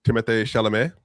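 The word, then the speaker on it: Timothée Chalamet: You have Marty Supreme uh which is Timothy, how do you say it? Timothy Shalame, I believe is how you say his name correctly.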